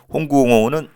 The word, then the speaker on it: 홍구 공원: 전투에서 승리했고 그리고 1항의 생일이었기 때문에 상하에서 홍코 공원이라고 있습니다.이 홍콩원이 중국 발음이고 홍구 공원이라고 해요. 홍구 공원은 이제 우리 한자시 표현입니다.